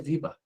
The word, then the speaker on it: Weber: Que a pronúncia é Weber, né?